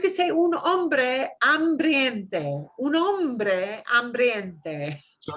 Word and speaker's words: hombre: They say hombres and they mispronounce it. Hombre is hombre, man.